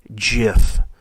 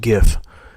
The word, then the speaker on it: GIF: load Jif pictures there I pronounced it the right way Jif I have to be honest I used to pronounce that gif I don't know if